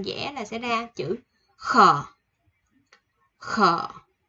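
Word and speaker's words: ㅋ: 11 của mình là chữ khờ. Khờ. Khờ, khờ giống khờ khạo ở Việt Nam mình nha, khờ.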